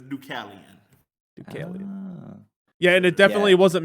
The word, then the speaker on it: Dukalion: on it like i knew that's how you pronounce it but right so yeah it's ducallion yeah and it definitely wasn't me that was